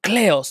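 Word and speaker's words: κλέος: But when she was young, she wanted Kleos, or Kleos, as you would actually pronounce it in Greek.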